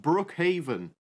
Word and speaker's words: Brookhaven: must be called Brookhaven no I think it's pronounced Brookhaven that's what I say uh guys I think